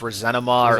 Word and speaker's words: ressentiment: in some way like Nietzsche referred to it as like ressentiment, and I think in like French it's pronounced resentiment.